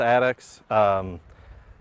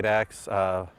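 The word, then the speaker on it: addax: It's usually pronounced Addix. Sometimes people say Addix. One of our most recent vets told me that she had never heard Addix until she actually came to Louisville.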